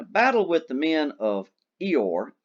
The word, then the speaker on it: Eor: In a battle with the men of Eor, E-O-R, that's how it's pronounced, Sakatha was mortally wounded, and as he lay dying, he used his second wish.